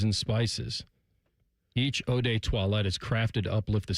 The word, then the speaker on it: toilette: Yeah, what did you pronounce it? Toilet? Eau de Toilette? It's toilette. Toilette. Eau de Toilette. Sounds like Beauty and the Beast.